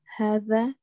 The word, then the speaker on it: هذا: Oh, so hadha is pronounced hadha, but is written without the first alif.